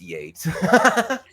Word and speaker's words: Yeats: The first being, oh, wait, it's Yates, not Yeats. Right. I'm talking to an artist, and well, W.B. Yeats up there. It's Yates.